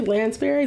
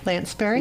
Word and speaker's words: Lanspeary: And I'm pronouncing that correctly? Lanspeary? You are. No, okay. Lanspeary.